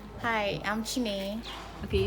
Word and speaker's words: Chinenye: Though one of the times I told someone my name is Chinenye, they actually call Chinonye and some other kind of.